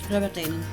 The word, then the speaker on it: Rowardennan: If you could pronounce the name for me. Rowardennan.